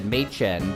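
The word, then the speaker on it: Maechen: He said mchen, but it's spelled makehen.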